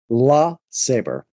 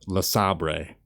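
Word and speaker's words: LeSabre: yellow 1969 buick lasabre the saber what did you just say the saber la saber look vice grip garage pronounces it lasabre this is my 1968 buick le sabre well vice grip garage is wrong how do you like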